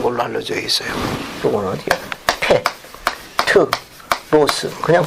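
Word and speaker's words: Πέτρος: 페트로스. 그냥 발음 교식을 읽으면 돼요.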